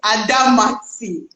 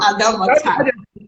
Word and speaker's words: Adamatie: Ladies and gentlemen, please help me welcome the cool teacher, Adamatie. Thank you. You called my name like an Oyibo. It's Adamatie. Please, I'm from Niger Delta. It's not Adamatie.